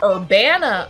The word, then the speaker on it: Urbana: Urbana, Ohio is. Okay, are you pronouncing it Urbana or? There's no I in the city's name.